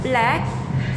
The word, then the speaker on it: BLVK: Pronounced as Black Unicorn, tapi dia punya spelling B-L-V-K.